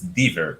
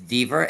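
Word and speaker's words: Dever: go ahead okay the the pronounce is dver okay it's dver and also he's he's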